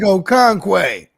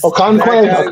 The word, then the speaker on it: Okonkwo: Then I also think a sneaky tight end play would be the one guy I can't pronounce his name. The big Chig Okonkwo. Yes. Okonkwo.